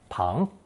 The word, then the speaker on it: 旁: Pronounced second tone, pang.